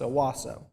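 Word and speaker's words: Hawassa: was at is called awasa H is silent it's Owasso so the distance between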